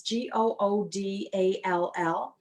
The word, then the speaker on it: Goodall: I think it's pronounced Goodall or Goodall. It's Goodall.